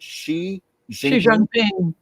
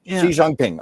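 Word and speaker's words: Xi Jinping: with the Chinese president uh with am I pronouncing this right? Xi Jangping Xi Jangping.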